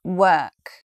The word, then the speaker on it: work: It is the word work. So there's an important reason that this word gets mispronounced. If you have a look at that spelling there, you would think it sounds something like walk.